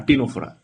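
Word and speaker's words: Ctenophora: Example very very important, C দিয়ে মনে রাখো সিওলোপ্লানা আর টিনোফোরা। সিওলোপ্লানা, টিনোফোরা, সি দিয়ে শুরু। হ্যাঁ, সিটা সাইলেন্ট থাকে।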